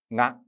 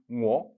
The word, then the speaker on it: 我: What is the ancient pronunciation? Nga. Here, nga. Or in Middle Chinese, ngo. Here is a nasal consonant in front.